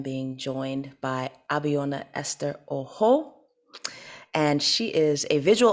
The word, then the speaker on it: Ojo: My last name is pronounced Ojo.